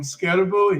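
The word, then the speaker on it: Skattebo: Am I pronouncing that correctly? It's an unusual name. I've heard and seen this player. It's Cam Scatterbo.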